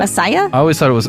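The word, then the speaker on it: açaí: one i know right asia is that's how you pronounce that asaya i always thought it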